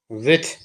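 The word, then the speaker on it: with: डब्लू आई टी एच विथ विथ मतलब होता से विथ का अर्थ साथ भी होता है जैसे हमें कहना मेरे साथ तो अंग्रेजी में बोलेंगे विथ मी विथ को विद भी पढ़ देते हैं विद टी एच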